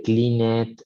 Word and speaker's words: cleaned: Entonces, nada de cleaned, ni diet, ni hoped, no. Cleaned, ligeramente es una D.